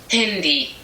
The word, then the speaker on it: Handy: But in German, the word handy is pronounced a little bit different. This is how Google pronounces it. Handy.